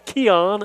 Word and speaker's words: Kenyon: They told us to skip the N. It's Kenyon, the way it's spelled, but it's Keon Owens.